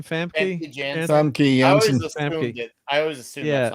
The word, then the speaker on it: Famke Janssen: Famke Janssen.